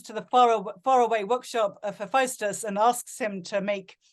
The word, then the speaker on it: Hephaestus: Hephaestus, is that how you say it? Hephaestus? Hephaestus, yes. Hephaestus, yes.